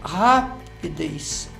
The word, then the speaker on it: rapidez: Essa palavra, olha, rapidez, ela é uma palavra cujo som mais forte é na última sílaba. Então, ela é uma palavra oxítona.